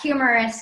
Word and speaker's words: humerus: bend at the elbow so notice that humerus kind of sounds like the word humor we call this area